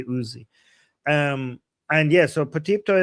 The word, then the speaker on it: Uzi: But in English is that the same thing like Yuzi is Okay. So in English you call it uzi. Okay. Yeah. First of all, the person in the chat saying it's not yuzi, it's uzi.